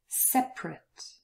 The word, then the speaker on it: separate: All of those four words without the schwa pronunciation. Different. Separate, every, chocolate.